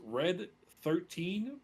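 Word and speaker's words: Red XIII: I don't think I'm going to pronounce this correctly. It's Red 13 Proud Warrior.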